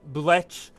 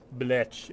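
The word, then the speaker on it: Blech: His name is Bletch Loafing Pest.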